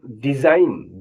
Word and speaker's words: design: अब देखिए, जिसमें जी साइलेंट होगा उनके बारे में बताने जा रहा हूं मैं। SIGN, साइन माने चिन्ह। DESIGN, डिजाइन, डिजाइन माने रचना।